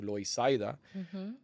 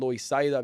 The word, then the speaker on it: Loisaida: that I came into, Loisaida. Important to know that it's called Loisaida because the first Puerto Ricans that were here did not speak English, and that's how they would pronounce Lower East Side.